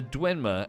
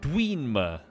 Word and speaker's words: Dwemer: If you'll forgive me for whinging, though, at some point some voice actress pronounced the Dwenmer as Dweenmer with 2 E's, and it offended me. I'm not pronouncing it Dweenmer.